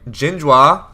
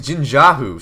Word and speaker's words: Jinjiahu: it does seem like jinjua oh his name is jinjahu sorry i've been calling him jinjua forgive me jinjahu i've